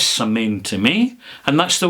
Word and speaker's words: Samhain: Dingle Distillery, and it's called, well, it says Samhain, but that's not the way you pronounce it. It's Samhain is the way you pronounce it. But it says Samhain to me, and that's the way I pronounce it.